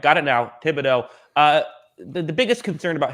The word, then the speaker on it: Thibodeaux: it so is it thibodeau or thibodeau uh thibodeaux davido so the h is silent yes okay that that throws me off but all right got it now thibodeaux uh the biggest concern